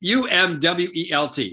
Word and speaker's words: Umwelt: I don't know if you pronounce it umwelt or umwelt. It's umwelt.